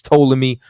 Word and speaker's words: Ptolemy: And then once again, that was Ptolemy. Well, it's really Ptolemy. You know what I'm saying? The P is silent, but it's Ptolemy over there in Egypt.